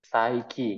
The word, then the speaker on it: Psyche: Oh, berarti tadi kita udah bener guys tadi cara pengucapannya ya. Saiki, malah berarti kayak cara pengucapan bahasa Inggris ya.